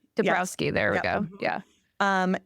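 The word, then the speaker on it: Dąbrowski: yes I to a d and I can't pronounce it but I just learned this IDE and I really like it debrowski debrowski there we go yeah um and the theory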